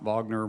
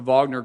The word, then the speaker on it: Wagner: about uh you know I believe is pronounced Wagner but I believe the media pronounces Wagner group all the time I